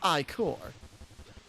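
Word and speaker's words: ichor: I can fill it with magical icer. That's pronounced iicor.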